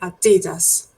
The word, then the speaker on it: Adidas: and the well Adidas is the same right Adidas that's the pronunciation but this is something to pay attention